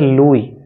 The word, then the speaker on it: Louis: ओ यू आई एस इसमें एस को pronounce नहीं करते इसको पढ़ते हैं लुई लुई Fischer F आई